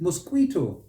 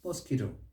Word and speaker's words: mosquito: yeah and stress it mosquito mosquito no it's mosquito mosquito stress is on that second syllable this one is metaphor